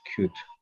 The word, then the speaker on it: could: The pronunciation is always could. Could. Oh, sorry. Yes, this is like could. We don't pronounce letter L, right?